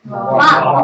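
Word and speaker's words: は: The pronunciation of ha. It also has another pronunciation of va. Okay, so where do you use va? When used as a particle, you use it as va.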